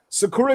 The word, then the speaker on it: Sakura: Yes, it's pronounced Sakura, bro. But you know that's not how Americans say that shit.